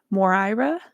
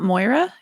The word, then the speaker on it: Mora: amazing I'm so excited her name is pronounced ounc Mora okay cool awesome thank you Mora so it's not Moira it's MO morira is